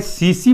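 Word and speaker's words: tsetse: इसका वाहक है सीसी फ्लाई। सीसी फ्लाई पूछेगा ना कि ट्रिप्नोसोमा का वाहक कौन है? तो सीसी फ्लाई। टी का उच्चारण साइलेंट रहता है ना तो हो जाएगा टसे टसे फ्लाई।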